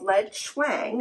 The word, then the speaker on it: Leadchuang: by a company called Leed schwang I believe that's the way it is pronounced you could always check